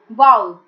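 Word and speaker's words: vowel: Next word, इसको लोग गलत प्रोनाउंस करते हैं, वोवल बोलते हैं कुछ लोग, बट it's pronunciation is वाउल।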